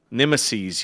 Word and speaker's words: nemeses: And then Gaffgarian said, "It's pronounced nemeses, you bludgers."